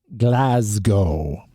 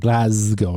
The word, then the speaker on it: Glasgow: of the Scottish City Glasgow so there's it's a z sound Glasgow not Glasgow and uh